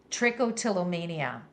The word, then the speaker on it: trichotillomania: After living with trichotillomania, did I pronounce that right, Jessie?